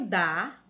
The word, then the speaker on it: da: perceberam que o primeiro da é uma monossílaba pronunciada fracamente é a pronúncia dela